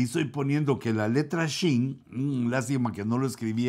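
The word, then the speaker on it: שׁין: Se pronuncia con los hebreos, más o menos lo que entiendo, se pronuncia como SH, como Shin.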